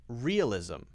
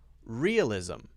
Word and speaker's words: realism: directly into it okay and then if it's at the end most of the time if not all the time because I can't think of any any examples otherwise then it's going to be that Z sound okay and you often